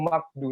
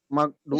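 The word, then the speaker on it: مغضوب: Udah kan ketemu kan yang saya bilang tadi, ini bukan makdu mau. Kebanyakan ya pernah kita dengar mungkin ya. Ustaz, imam atau apa itu makdu, tapi itu salah sebenarnya. Yang betul mau du. Jadi yang benar gimana? Magdu.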